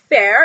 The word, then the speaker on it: Feyre: Anyways, so it says Fair is Feyre, Tamlin, Lucien. There's just all these awesome characters with these cool names. So she's told us how to describe them, how to pronounce them. So anyways, it's Feyre, but I like to call her Fair because, as I said,